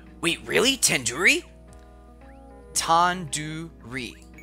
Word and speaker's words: tandoori: Tandoori. The do isn't like the door. It's like doo-doo head. Are you 5 years old? You could have just said, like, do in due date. Tandoori.